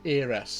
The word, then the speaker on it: Aeris: Aerith, or as we had over here in America, two different ways you could say her name, Aerith and Aeris. Fell right into my flower bed. Both names are fine.